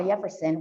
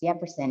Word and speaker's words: Yefferson: He whom we'll call Yefferson will take no other pronunciation, and this is what makes him oh so sweet. Yefferson, actually, en realidad es Yefferson, is an endearing story